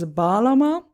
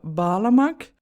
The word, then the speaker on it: bağlama: time it has been decided to call this balama and that name comes from the turkish verb balamac yeah the g in balama is silent so